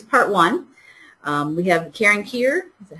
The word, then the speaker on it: Keir: We have Karen Keir, is that how you pronounce that?